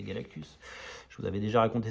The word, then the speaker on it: Galactus: magnifique et géant Galactus, que j'appelais Galacticus quand j'avais 10 ans, parce que j'avais lu une syllabe de trop, hein, et puis pendant une dizaine d'années, je l'ai appelé Galacticus, et après un jour, j'ai dit, mais c'est pas Galacticus, c'est Galactus.